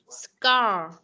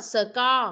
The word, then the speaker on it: score: Scar. Không có là score mà là con nghiến cái răng lại, con đẩy hơi.